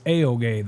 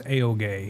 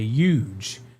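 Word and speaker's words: Juha: And he kind of laughed and he was like, it's Aoge. The Finnish way to pronounce my name is Aoge. He's like, but Americans say huge.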